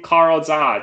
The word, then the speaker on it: Carl Zha: My name, Carl Zha, just Carl spelled with a C, and my last name, Z-H-A, Z like zebra, H like Henry, A like apple.